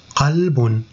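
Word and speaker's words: قلب: Masirun, masirun, kaf et qaf, c'est proche aussi, surtout pour ceux qui ne sont pas arabes et qui apprennent le français, c'est difficile pour eux de prononcer qaf. Donc là, il faut vraiment prêter attention à prononcer qaf.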